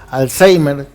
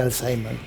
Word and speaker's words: Alzheimer: son la demencia por Alzheimer nos pronunciamos Alzheimer pero es Alzheimer porque es alemán pero las demencias vasculares